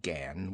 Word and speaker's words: Gan: do you belong to she pronounced it Gan with only a suspicion of a nasal sound I laughed I'm not